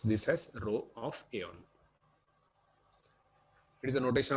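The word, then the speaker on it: ρ: Here we read this as row of A only. We read this as row of A only. We pronounce this as row of A only.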